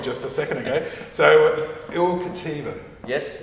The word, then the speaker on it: Il Cattivo: So, Il Cattivo. Yes, Il Cattivo. How do you say it properly? Il Cattivo. That's much, much better.